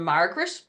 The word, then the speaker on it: Margaret: looking for people called Margaret. And I remember that sometimes Margaret is spelled Magret, as in the way we pronounce it, Margaret, not Margaret.